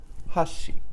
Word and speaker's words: 箸: each one first so chopsticks starts high think of trying to reach a tree like a fruit or something high and bring it down with your chopsticks so how do you say chopsticks Hoshi okay one more time